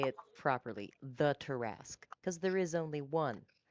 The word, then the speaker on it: Tarrasque: I love how you say it properly, the Tarrasque, because there is only one Tarrasque.